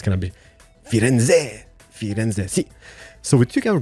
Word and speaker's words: Firenze: Firenze, doesn't matter, you know, you should kind of pronounce the Z. I think it's gonna be Firenze, si.